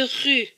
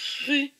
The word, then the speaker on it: rue: se prononcent pas donc on ne prononce que le r et le u donc rue la rue et enfin